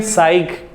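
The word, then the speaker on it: psych: उसके बाद एक और रूट वर्ड है साइक, है ना, पी साइलेंट होता है इसमें, साइक।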